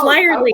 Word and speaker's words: Lirely: Oh, no, you had it right the first time. It's Lirely. Okay.